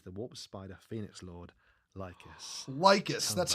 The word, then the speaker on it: Lycus: This is the Warp Spider Phoenix Lord, Lycus. That's how you pronounce it.